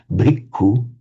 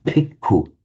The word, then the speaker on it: bhikkhu: The Thais find it impossible to say bhikkhu. If you hear a Thai pronounce it, you'll say bhikkhu with a p. It's because of the phonetics of Thai, they can't do a b sound.